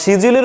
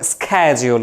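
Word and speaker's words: schedule: আবার শিডিউলের উচ্চারণ আবার দুই রকম, ব্রিটিশরা একরকম বলে, আমেরিকানরা একরকম বলে। কে বলে? শিডিউল, আর আমেরিকানরা বলে স্ক্যাজিউল।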